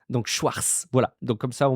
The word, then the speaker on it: Schwarz: faire à l'écrit mais il ne faut pas prononcer le T tout simplement car il n'y a pas de T dans Schwarz on prononce la fin